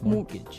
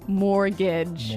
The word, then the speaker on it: mortgage: mortgage with a t yeah it has a t in it but you don't pronounce it you say mortgage morgage so not Mort mortgage not mortgage morgage morgage yeah I had